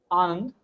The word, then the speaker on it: Anand: And can I confirm I'm pronouncing your name correctly? Anand? yeah, Anand, Oh, An is better?